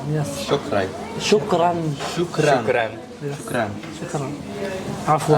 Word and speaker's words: شكرا: Shukran. Yes. Shukran.